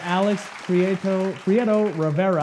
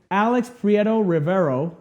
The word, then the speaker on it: Alex Prieto Rivero: We have Alex Prieto Rivero. I said it right. Alex Prieto Rivero.